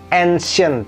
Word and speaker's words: ancien: Misalnya pakai, ini kalau di bahasa Inggris ancient ya. Bahasa Perancisnya ini ancien bacanya, dan tidak ada T-nya seperti di bahasa Inggris ya, beda ya. Mirip tapi nggak sama persis.